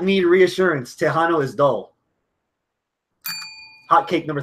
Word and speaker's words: Texano: If you're gonna call him Tejano, spell it with a J.